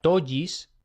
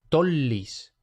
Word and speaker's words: tollis: Dos l no se pronuncia como en español, no sería tojis, sino que se pronuncia una L, o sea, tollis, no tolis, no tollis, sino tollis.